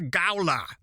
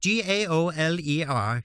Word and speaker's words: gaoler: You're forgetting as I am your gowler." I probably mispronounced it. 1870. Gaoler. You can pronounce it properly.